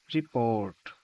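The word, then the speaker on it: report: যেমন এক্সাম্পল হিসেবে ইন রিপোর্ট। Stress is অন the second syllable. রিপোর্ট।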